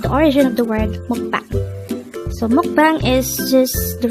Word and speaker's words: 먹방: is a two-syllable word the first syllable is mock the second syllable is pronounce it with me the word mukbang is a korean noun